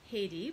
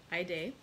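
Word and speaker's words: Haydée: And so he goes to visit Aide, who the other day I'd said I was going to call Heidi, but I've decided to go with the actual pronunciation, which was recommended online, of Aide.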